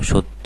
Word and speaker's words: সত্য: রুস অনুযায়ী জফালা রয়েছে তাহলে শব্দের প্রথমে অ এবং তারপরে জ ফালা আছে সুতরাং এর উচ্চারণটা আর অ থাকবে না কি হয়ে যাবে হ্যাঁ ঠিক বলেছ ও এর মত হয়ে যাবে তাহলে বলতো সত্য হবে